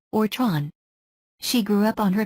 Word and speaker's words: Theron: there is an aan surname originally spelled thin pronounced in Africans as TR n or Tron she grew up on her parents Farm in